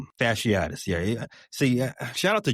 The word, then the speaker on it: fasciitis: I'm not gonna try to pronounce the word. Fasciatis. Fasciitis.